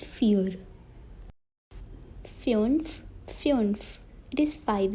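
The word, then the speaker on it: vier: is four in german now it is not weird it is fear feons fions it is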